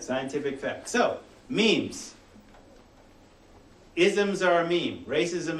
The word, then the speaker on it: meme: So, small meme rhymes with cream, the smallest unit of